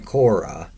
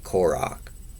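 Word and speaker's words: Korach: So, Prager spells it the old way, Koro, where the ch is pronounced like uh the ch in Hanukkah or the ch and the composer bo the way the name is pronounced in Hebrew.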